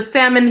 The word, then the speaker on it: salmon: But the salmon here are salmon. Salmon, baby. Yes. Salmon. And you do not pronounce the L.